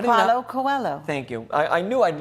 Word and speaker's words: Coelho: Now, I will not try at all with my French to pronounce this guy's name. Get your glasses on. Tell me. How do you Paulo know? Coelho.